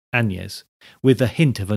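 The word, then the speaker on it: Annes: anes spelt a double n e s and pronounced anes with a hint of a non-existent g weightly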